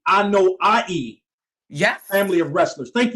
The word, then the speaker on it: Anoa'i: So you're part of, I want to make sure I pronounce it correctly, Anoa'i Yes.